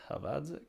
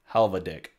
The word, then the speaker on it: Halvadzik: My last name is Halvadzik. If I played in the NBA, they would pronounce it Halvadik.